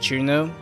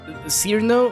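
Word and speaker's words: Cirno: here I acknowledged is it pronounced Juno that's how I say it anyways because sir no sounds wrong to me and the the Japanese the Japanese name is chiruna so I'm it's like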